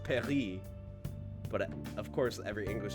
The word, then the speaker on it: Paris: But, of course, every English speaker says Paris. Like, are you going to correct someone and be like, actually, it's pronounced Paris? Don't say Paris. It's Paris. Like, we anglicize words.